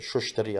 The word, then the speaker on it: Tustari: Sheikh Tustari. or as they pronounce it, Shushtari, I think it is.